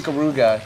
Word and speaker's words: Ikaruga: Well, if that's how you pronounce it, Dave, then I'm just going to stick with it. It's basically Ikaruga in an action game.